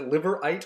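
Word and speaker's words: Liveright: how they say it is a liver right or live right there's a sort of a subtle schwa on the e lip liver right liver right a division of WW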